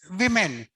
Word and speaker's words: women: it is pronounced as women so o is pronounced as I okay very simple Nation